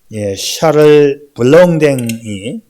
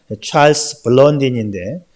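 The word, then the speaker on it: Charles Blondin: 1859년에 이 프랑스 출신의 고개사 샤를 블롱댕, 제가 발음이 잘 안 돼가지고 미국식으로 이 발음을 하면 찰스 블론딘인데 제가 프랑스 말을 전혀 몰라요.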